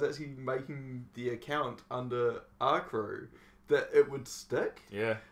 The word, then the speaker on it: R_Kr3w: There's an invisible R. It's a silent R. You know how you get silent letters? Yeah. This is an invisible one. Yeah, say it, but it's not actually there. Yeah, So it's R crew.